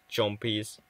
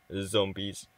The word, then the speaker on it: zombies: That I pronounced it chompies. So, I guess I have to pronounce it zombies. But it's quite hard to say. To like pronounce the Z.